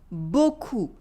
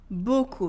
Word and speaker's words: beaucoup: Here the P is silent, okay? Merci beaucoup. Merci beaucoup. Repeat after me. Merci beaucoup.